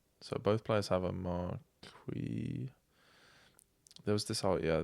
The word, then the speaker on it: Marquis: I'm going to stick with marquee marquee not not marquiz or whatever the other ones were.